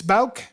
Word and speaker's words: Bouk: and then I'm going to say it's Bouk.